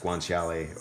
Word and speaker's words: guanciale: gonna use an eyeball I think that's pronounced guanciale or something along this line this you can eat